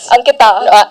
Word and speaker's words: Ankita: Ankita. Yeah.